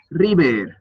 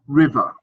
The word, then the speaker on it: river: on pronunciation you could work on the use of the schah at the end of er words so you said re and it sounded it sounded quite Spanish so you pronounce that schwar at the end river okay River yeah River and then later